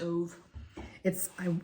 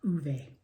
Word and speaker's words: Ove: I always said Ove. After watching the movie, I now know it's pronounced Uwe. Uwe.